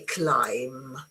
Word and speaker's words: climb: A do you you say climb? So this one doesn't is not there is completely silent.